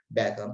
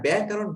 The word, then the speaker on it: ব্যাকরণ: আর ব্যাকরণ ব্যাকৃজগণ, অনেকে ব্যাকরণ বলে, ব্যাকরণ উচ্চারণ না, ব্যাকরণ। সবাই উচ্চারণ করো ব্যাকরণ। আবার ব্যয় বলে থেমে থাকবে না, তাহলে সমস্যা হবে। ব্যাকরণ, ঠিক আছে, কয়ে কিন্তু আকার নেই, সুতরাং ব্যাকরণ বলা যাবে না।